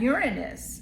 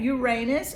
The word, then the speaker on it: Uranus: And you also have Uranus. Okay. Uranus or Uranus, however you want to pronounce it. People pronounce it in different ways, but honey, this is